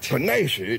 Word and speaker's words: panacea: Well, how would y'all pronounce that? Panacea. I'm sorry, what? Panacea.